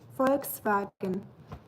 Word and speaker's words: Volkswagen: So, the V is pronounced like an F. Volkswagen.